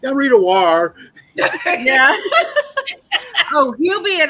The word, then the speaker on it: Ware: And I'm sorry for getting your name wrong, Lamont and Rita. It's okay. Ware.